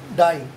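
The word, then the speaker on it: dye: डाई means मरना और डी वाई ई डाई means रंग. उच्चारण प्रोनंसिएशन दोनों की सेम है, डाई डाई, लेकिन मीनिंग डिफरेंट है, स्पेलिंग्स डिफरेंट है.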